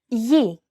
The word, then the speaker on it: Γη: When it precedes an I or an E vowel, it's pronounced very much like an English Y sound. For example, Γη, γένος.